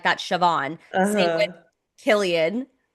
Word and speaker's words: Siobhan: How do you say this name? There's a B and an H and all this. And I was like, Siobhan.